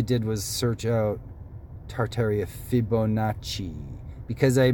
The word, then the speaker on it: Fibonacci: And all I did was search out Tartaria Fibonacci. Because I mispronounced, I think I was so tired in the last video, I said Fibrici spiral or something.